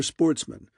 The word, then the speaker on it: Sportsmen: good family who were Sportsmen a French word pronounced with the accent on the men the only trouble was